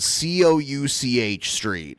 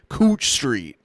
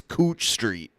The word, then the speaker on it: Couch Street: a street that's spelled C O U C H Street. And when I first saw it, I was like, "Oh, it's Couch Street." No, it's pronounced Cooch. Cooch Street in Portland.